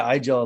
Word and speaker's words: iGel: That's like conversation number one when you introduce somebody to iGel. Is like, why is it called iGel? And iGel is pronounced Igel in German, and Igel in German is a hedgehog.